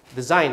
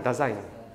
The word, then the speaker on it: Dasein: Design ya. Tulisannya begini nih. Tapi diucapkannya bukan design, Dasein ya, Dasein ya.